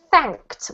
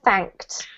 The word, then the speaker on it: thanked: This word here is thanked with a t sound at the end. thanked.